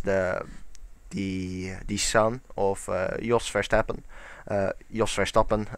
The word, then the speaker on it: Jos Verstappen: Jos Verstappen, pronounced in Dutch, but I'll pronounce it in English as best as I can.